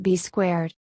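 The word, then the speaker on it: B²: Eventually, Cena was joined by an enforcer, Bull Buchanan, who was rechristened B2, also written B squared and pronounced B squared.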